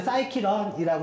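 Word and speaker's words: scikit-learn: 그래서 이제 읽을 때 그냥 사이키런이라고 읽어요.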